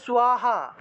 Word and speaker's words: স্বাহা: স্বাহা স্বধা, এই যে স্বাহা উচ্চারণ হবে, দন্তের স্বরের নিচে বফলা থাকলে সেটার উচ্চারণ হবে স্বরূপে উচ্চারণ হবে। তাহলে স্বাহা স্বাহা, ঠিক আছে?